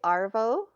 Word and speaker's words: arvo: starbucks no if i say arvo a-r-v-o it's slang for afternoon oh so i'll meet you this i'll meet you the sarvo woo that's hard but they don't actually use the word they don't pronounce r so it ends up being odd right and it's this afternoon